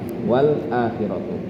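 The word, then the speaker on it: وَالْآخِرَةُ: Wal akhiratu lamnya dikasih harokat seperti harokat hamzah wala. Dan hamzahnya dihilangkan wala. Kemudian karena hamzahnya tadi dipanjangkan, lamnya jadi panjang. Wala khiratu, seperti itu. Dibacanya jadi wala khiratu.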